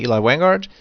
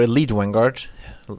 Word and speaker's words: Elite Vanguard: This is better than the Eli Vanguard, or Elite Vanguard, thanks to one user who told me how it's pronounced.